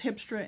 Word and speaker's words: Grijpstra: hipster and here mystery g in dutch is pronounced an h i learned so it's hipster into here but anyway